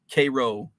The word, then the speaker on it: Cairo: called little egypt um because of the whole k-row uh in there what else orion orion illinois is spelled is spelled the same as orion myelin